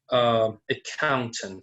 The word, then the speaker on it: accountant: For example, by these Legos, I'm going to show you the word accountant. So you see that there are 3 syllables and the stress is on the second syllable.